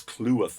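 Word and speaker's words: Cleworth: clearworth clue with sorry i always get his name wrong it's clue worth i've now found out kluth and he took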